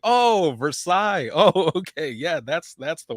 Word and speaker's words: Versailles: Or there was another one that's it's Versailles, but everyone always said Versailles. And I think in different areas people pronounce it different, but it's Versailles.